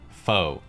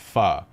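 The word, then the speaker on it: phở: pun involving the word foe fo sure foe ever fo true foe you etc but in reality the word is actually pronounced fa as in guys i've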